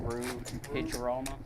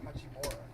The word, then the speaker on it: Hachimura: Oh, Rue Hicharoma or something. Hachimura.